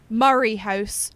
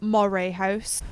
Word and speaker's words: Moray House: Also, sorry, Murray House, not Moray House.